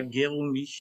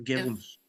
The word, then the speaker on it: Guéroumi: Oui, c'est Garomi. ça, Guéroumi, ouais, Guéroumi.